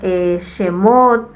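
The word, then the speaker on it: שמות: como Génesis en hebreo es berit luego tenemos shemot luego tenemos baik luego tenemos bamidbar y después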